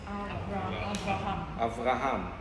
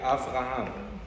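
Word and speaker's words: אַבְרָהָם: Avraham. With a vet. Not with a bet, with a vet. Avraham.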